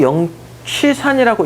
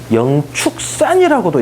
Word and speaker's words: 영취산: 그 모르는 건 아닌데 이렇게 써놓고 영취산이라고 읽는 게 맞는데 이게 독수리 취자거든요. 이거를 영축산이라고도 읽더라 이거지.